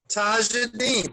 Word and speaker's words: Tajadine: Tajadine, 3 syllables.